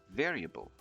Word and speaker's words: variable: a b l e variable variable this one can be a bit tricky because the stress is on the second syllable so to save variable